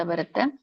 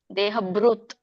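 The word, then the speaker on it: ದೇಹಭೃತ್: ಪ್ರಳಯಂ ಇಲ್ಲಿ ಪ್ರಳಯಂ ಅಂತ ಬರುತ್ತೆ ಪ್ರಳಯಂ ಯಾತಿ ದೇಹಬೃತ್ ಭ ದೊಡ್ಡಬ ಇದೆ ಮತ್ತೆ ಒಟ್ಟಸುಳಿ ಋಷಿರು ಹೇಳಬೇಕು ಬೃತ್ ಬ್ರತ್ ಅಲ್ಲ ದೇಹಬೃತ್ ತದೋತ್ತಮಂ ಅವಿದಾಂ ತದಾ ಉತ್ತಮಂ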